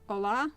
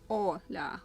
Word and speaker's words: Olha: Almost like Ola, but Olha. Different pronunciation and softer end of the name.